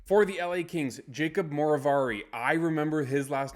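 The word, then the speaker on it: Moverare: I was trying to figure out how to pronounce it, and then I heard it and I thought of it like the villain in the Sherlock Holmes movies or TV show with Benedict Cumberbatch, Moriarty.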